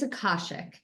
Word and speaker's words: Akashic: for having me and it's a Kosik so you had it the second time yeah just think chick like that's always to remember chick okay even how to spell it with it has like chick in it too so okay gotcha gotcha